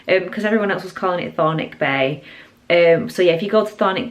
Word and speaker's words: Thornwick: over there it's called chthonic Bay I was calling it thorne wick bakes that's how it's spelled I think the W is silent because everyone else was calling chthonic Bay um so yeah